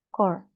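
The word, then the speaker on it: corps: Kalau misalnya yang tunggal dia bacanya segini aja, core. Tapi kalau plural S-nya dibaca, jadi course. P-nya kenapa nggak dibaca? Nggak tahu dari sono. Because it's a French word.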